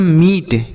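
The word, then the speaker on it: meet: आगे लिखा है एम A double E टी। एम ई ए टी। M double E टी। इसे हम पढ़ते हैं मीट। क्या पढ़ते हैं? मीट। और दूसरा लिखा है एम ई ए टी। इसे भी हम मीट पढ़ते हैं।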